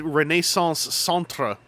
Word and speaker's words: Renaissance Centre: I've spelled it correctly with the R-E on the end and pronounced it in French like you're supposed to, because it said Renaissance on the front.